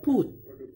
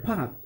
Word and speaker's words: put: But when you find out the word of put, put, to put, meletakkan, you know, why you pronounce or you say the word of put, not pat, just like in the word of cut?